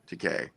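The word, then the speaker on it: Takei: a big deal like when you say his name it rhymes with gay it's GK sorry TK but we love George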